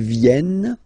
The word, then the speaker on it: viennent: Ils viennent. Elles viennent. Ils viennent. Elles viennent. All right? E-N-T. You don't pronounce them.